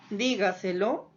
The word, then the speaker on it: dígaselo: Y estas palabras sobresdrújulas o preproparoxítonas son aquellas que tienen la mayor intensidad antes de la antepenúltima sílaba. Veamos ejemplos de este tipo de palabras. Por ejemplo, tengo la palabra llévatela, dígaselo, cuéntamelo.